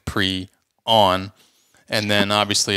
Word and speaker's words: prion: So that's what I found anyway in my research, and it's pronounced pre-on.